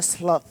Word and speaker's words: sloth: Ada satu lagi, sloth. Bacanya sloth, Bu. Ada. Bukan slot. Kalau slot itu ruang gitulah ya, gitu. Itu sloth.